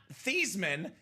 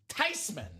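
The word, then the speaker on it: Theismann: It's actually not Theman. It's actually pronounced Tyman."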